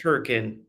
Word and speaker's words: Hurricane: Um, there's a small town in Utah, uh, called Hurricane, spelled Hurricane, pronounced Hurricane.